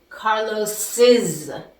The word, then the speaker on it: Carlos's: But remember, the pronunciation is going to change. It's going to be Carlos's computer.